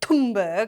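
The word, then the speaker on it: Thunberg: So Greta Tumbberg apparently is how you pronounce her name.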